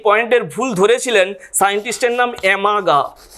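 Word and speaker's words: Amagat: পরবর্তীকালে এই পয়েন্টের ভুল ধরেছিলেন সায়েন্টিস্টের নাম অ্যামাগা। টি এর উচ্চারণটা আসবে না, সায়েন্টিস্টের নাম অ্যামাগা।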